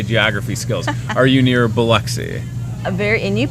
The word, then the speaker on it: Biloxi: Are you near Biloxi? And you pronounced that correctly.